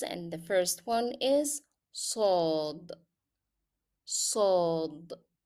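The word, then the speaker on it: صاد: Let's start with the cousins, and the first one is sod, sod. It sounds like s, s.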